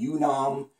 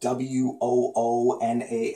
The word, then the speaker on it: Woonam: So before I was saying Yoonam, people say it's spelled W-O-O-N-A-M as well. Well, it's also spelled with a U. But pattern Woonam.